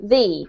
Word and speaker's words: the: pronounce it that but if it comes before a vowel we change the pronunciation to thee so it would be the elephant's right so you can keep